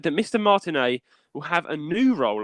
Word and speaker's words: Martinet: Martinet, I think. It's Martinet. It's spelled like Martinet, but Martinet it is.